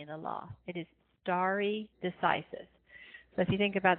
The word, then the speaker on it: stare decisis: doctrine of stare decisis this is a Latin phrase that's why it's pronounced a little bit not the way you would expect to I've kind of broken